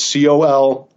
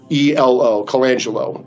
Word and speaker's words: Colangelo: His name is Matt Colangelo, is I think how I pronounce his last name. It's Colangelo, Colangelo.